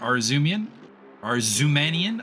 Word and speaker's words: Arzumanian: So we ride with Robert Arzumanian. I'm going to have to relearn how to pronounce his name because apparently there was an A-N there that I was just ignoring the whole time.